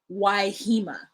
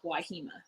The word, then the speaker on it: Wahima: uncle did not ask he just named his child waihima because that is how that side of my family pronounces my name why hima let me tell you how they spelled wahima why h-e-m-a my name is wahima okay it is not wahima so you know what